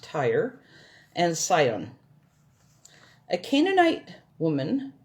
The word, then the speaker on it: Tyre: region of tyre yes and jim it is pronounced tyre and scion a canaanite woman from that vicinity